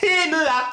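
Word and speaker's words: Hema: MEA. Il y a un H avant, faut bien le prononcer. MEA. À toi? Emma.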